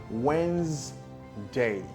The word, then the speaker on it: Wednesday: So instead of saying Wednesday, you'd rather say Wednesday, Wednesday, or Wednesday, Wednesday. So the NES, the three letters NES, have been reduced or taken out from pronouncing that word.